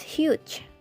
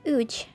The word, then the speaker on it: huge: hard the mountain was huge not the mountain was Uche and hello it's not